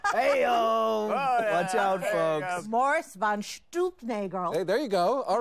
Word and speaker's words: von Stuelpnagel: It's pronounced von Stuelpnagel.